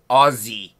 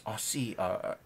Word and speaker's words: Aussie: He says Aussie. I'm like, there's no Z in it. There's no Z. It's Aussie Hocky. Never realized that people could mispronounce an S sound, but okay.